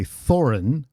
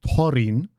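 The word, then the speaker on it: Thorin: I pronounce it differently I don't say thoren but toin because there's no th sound in dwarfish So the typical English th sound doesn't exist in dwarfish. It's a t with an h attached.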